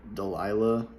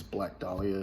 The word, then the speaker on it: Black Dahlia: is black dahlia now for the longest time i pronounced it delilah because i i thought you know but i don't know i don't know why i did that but it's black dahlia so yeah from the